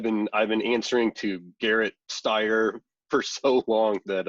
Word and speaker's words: Gerrett: looks like a spell Garrett yes it starts with a G but pronounced with a J yeah well I don't